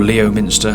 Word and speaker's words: Leominster: To the left of the screen now we can see our last reference point, which is Leominster. Or Leominster, however you want to pronounce it.